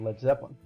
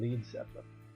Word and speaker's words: Led Zeppelin: formed a band named Led Zeppelin. And they spelled their name this way because they didn't want Americans to pronounce the band name Lead Zeppelin.